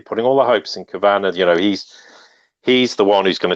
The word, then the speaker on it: Kavanaugh: And Kavanaugh, or however people want to pronounce it, I only say Kavanaugh because I knew someone with the same surname who years ago told me that it was pronounced Kavanaugh, but you can pronounce it however you like, it doesn't matter.